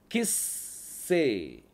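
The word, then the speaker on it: כִּסֵּא: கிஸ்ஸே, கிஸ்ஸே, கிஸ்ஸே அப்படின்னா சிங்காசனம். கிஸ்ஸே, கிஸ், அந்த இஸ் வருது பாருங்க. சாமிக்குள்ள புள்ளி வந்தால் டபுளிங் சவுண்ட் வரும்.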